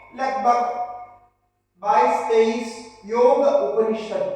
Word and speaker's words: योग: जैसा अभी कहा गया ये जो योग शब्द है जिसको आजकल अंग्रेजी में योगा कहते हैं। योगा इसमें क्योंकि अंग्रेजी का उच्चारण के हिसाब से वो योगा हो गया तो पूरा वर्ल्ड में आप योगा ऐसा प्रस्तुत है और हिंदी में हम योग कहते हैं क्योंकि वो योग जो है हलंत करके करते हैं हिंदी भाषा की अपनी विशेषता और है संस्कृत में ये योग ऐसा संस्कृत में पूरा उच्चारण सही उच्चारण होगा योग योगित वृत्त निरोधा ऐसा